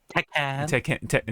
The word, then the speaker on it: Tekken: It's pronounced Tekken.